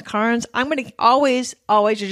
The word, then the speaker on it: Cairns: Welcome to Cairns. Cairns. Cairns. They throw a little R in there that you can hardly hear. It sounds like cans, Cairns.